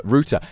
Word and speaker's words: router: and how like ethernet stuff works and so routa that's how it's pronounced okay it's router schedule off anyway um what